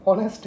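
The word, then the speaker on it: honest: बिल्कुल गलत है क्यों क्योंकि ये ऑनेस्ट नहीं है ये ऑनेस्ट है यहां पर ह जो है वो साइलेंट है ठीक है तो जो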